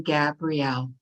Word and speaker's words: Gabrielle: Hello, and I'm going to say I do say my name, Gabrielle. Gabrielle, okay. Gabriel's the angel.